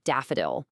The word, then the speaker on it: DFDL: And you know, cuz tech people love a good nickname, you'll often hear it pronounced daffodil.